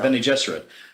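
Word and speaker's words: Bene Gesserit: whole Sparks of FL Ben jesser you pronounce it Benny Jess yeah Benny jesset their whole mystique and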